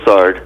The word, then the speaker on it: Lessard: story in such a wonderful way am I pronouncing your last name correctly yes it's lard lard okay the the yesterday Robert and I